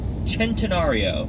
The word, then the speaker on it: Centenario: Next up, we have the Lamborghini Centenario, which kind of looks like Centenario. It looks like Centenario, but leave it to the Italians for one C being pronounced like a CH.